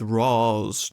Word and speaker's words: Ra's: Watch Mojo pronounced it Raish in one of their videos, and because I hate Watch Mojo with all of my heart, I'm gonna go with Ross just to spite them.